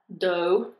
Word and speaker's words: dough: The word D-O-E, dough, is pronounced exactly the same way, but D-O-E is a female deer.